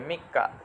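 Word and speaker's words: みっか: ব্যবহার করা হয়েছে তাহলে তচ ছোট হলে কি হয় পরের বর্ণটা ডাবল হয়ে যায় বা পরের বর্ণটা জাফেলা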